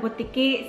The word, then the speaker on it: butiki: You're pronouncing it wrong. Am I? What am I pronouncing wrong? Bumili ako ng bituka ng butiki sa butika. Bumili ako ng bituka ng butiki sa butika. Sure. No, what did I say wrong? Butiki. Butiki? Bumili ako ng bituka ng butiki sa butika.